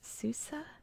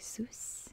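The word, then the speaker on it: Sousse: again the pronunciation um i heard it pronounced as susa but the the francophone in me wants to say seuss and keep that e silent i'm not sure which one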